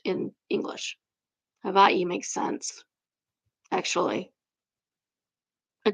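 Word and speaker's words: Hawaiʻi: The traditional spelling for Hawaii and pronunciation is hava. Basically, the a and the h emerge and the w and the i merge. The w makes a v sound since it's surrounded by vowels.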